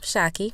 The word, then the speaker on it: Shaki: Hey, Sideline Hackers, Shaki here. You know, Shaki rhymes with hockey and is short for Shakira, like the singer, and I am here to help you navigate your life on the sideline and beyond.